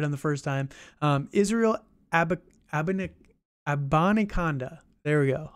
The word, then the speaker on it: Abanikanda: Israel Abanikanda. There we go. Abanikanda.